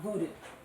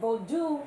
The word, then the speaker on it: Vodou: So you're hearing me already say bodu not voodoo. Why is that? And then you can just read. But why why bold not voodoo? My students should know this. Don't you embarrass me. Why vodu not voodoo?